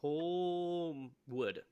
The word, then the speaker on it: Holmwood: So we're introduced to our other supporting character, Arthur how's he pronounce his name? Holmwood.